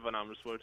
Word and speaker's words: Van Amersfoort: Is that how it's pronounced? Yeah, it is. Yeah, Van Amersfoort.